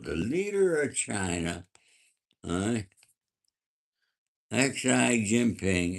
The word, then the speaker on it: Xi Jinping: Okay, Malibu, the leader of China, uh, Xi Jinping, is pronounced Xi.